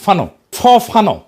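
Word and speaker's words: Fanon: ফরাসি আলজেরিয়ান চিন্তাবিদ ফানো নাম আসল উচ্চারণটা, উনি বলছিলেন, পরাধীন জাতিগোষ্ঠী লড়াইয়ের ভিতর দিয়ে নিজেকে চিনতে শেখে।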